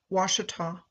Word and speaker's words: Ouachita: My starting point is Monroe, the parish seat of Louisiana's Ouachita, pronounced Washitaw, Parish.